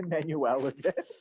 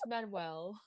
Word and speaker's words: Manuel: name so slowly boy i was about to say manueline it's manuel hamilton guy yeah and